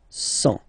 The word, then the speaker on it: cent: and the last one, 100. Remember, final T not pronounced. 100.